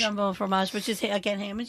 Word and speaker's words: jambon fromage: Jambon fromage? Jambon fromage, which is, again, ham and cheese.